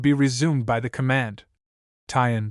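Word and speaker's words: 'tention: Tyen squad abbreviated from attention and pronounced shun.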